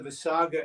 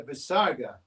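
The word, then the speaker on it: visarga: yeah that's right but what it is is an out breath and um an audible out breath you know so when we breathe out you can't hear it but if you breathe out very kind of strongly you can hear it so that's the visaga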